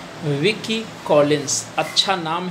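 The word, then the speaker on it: Wilkie: Correct option is C, Vicky Collins, अच्छा नाम है, एसोसिएट करो woman in white Vicky Collins, L silent है ना।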